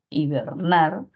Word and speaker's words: hibernar: Mayor fuerza de voz aquí, nar, hibernar, por lo que sería una palabra aguda y debido a que termina en R, no lleva tilde.